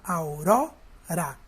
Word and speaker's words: aurora: Aurora. A sílaba mais forte é auró.